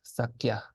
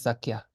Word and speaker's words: Sakya: And this is pronounced kya. Like this, sakya. So this is sakya, like the school of one of the 4 main schools of Tibetan Buddhism. Because the sa is mute in this case, so the rules are cumulative, as we said.